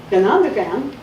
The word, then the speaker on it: Ganondagan: You can go to the Ganondagan, which is the one New York State park run by Native Americans.